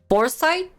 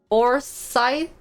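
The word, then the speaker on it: Forsythe: foresight that's how you pronounce it ah for scythe in the beginning matlab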